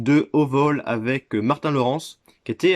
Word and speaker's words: Lawrence: j'aime bien martin lawrence lawrence on prononce à l'américaine qui a joué dans